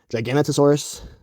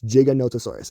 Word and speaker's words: Giganotosaurus: gigantosaurus um it's not gigantosaurus it's not gigantosaurus it's not neganosaurus it's giganotosaurus and they have the paleontologist